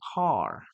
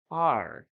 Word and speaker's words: car: Let's continue with car. Okay, American English, car, car. British English, car. Yes, they don't pronounce the last sound, the final sound.